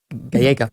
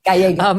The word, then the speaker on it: Gallego: You, as I understand it, and obviously since I didn't know how to pronounce Gallego. It's Gallego. Gallego.